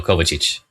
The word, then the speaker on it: Kovacic: The stress is on the O, Kovacic.